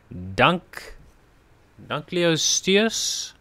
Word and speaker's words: Dunkleosteus: terror bird Sarco no dunk leosteus I think that's what it's called Dunkleosteus I think that's what it's called that's how I would pronounce it so 20 Ingram points